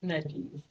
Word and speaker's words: Maimonides: I don't know how to pronounce his name. Maimonides. Maimonides.